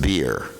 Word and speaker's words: Virya: Just like when Prabhupada gave me my name, he pronounced it in Bengali. He said, beer. And I was just wondering, wow, I'm being named after an alcoholic beverage here. I got really upset, wow. I said, I never drank before I joined the movement, probably. No, I didn't say that, but I was thinking like that. So, but then I understood that in Bengal they pronounce V or the V as B, just like Prabhupada would say, Vrindavana.